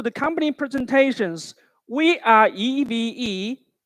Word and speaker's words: EVE: company presentations we are eve please pronounce like e v e not eve where group companies for